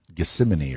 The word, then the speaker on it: Gethsemane: talking to the father in The Garden of Gethsemane or something yes that's exactly right great pronunciation and so Jesus actually said in his